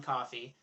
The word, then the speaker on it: Coffey: and he gets a new inmate called John Coffey, like to drink, only not spelled the same way.